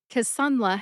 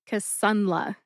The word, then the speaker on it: Kisunla: Emphasize that middle syllable, sun. See if you can hear the emphasis when I say it again. Casla.